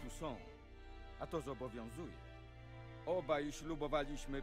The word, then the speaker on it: Toussaint: Okej, czyli wymawia się to Toussaint.